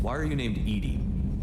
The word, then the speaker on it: EDI: Why are you named EDI? EDI is the phonetic pronunciation of EDI.